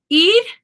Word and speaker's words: ir: Ir. Ir is, it might sound like I'm saying ID, but really it's a flap R. There is an R in that sound.